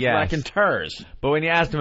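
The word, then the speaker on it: Raconteurs: we started I'm like are you sure it's rack and tur yes I'm positive even though my instinct was that they have to be called the rack and tours I didn't hear the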